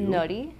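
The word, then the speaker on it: のり: Nori.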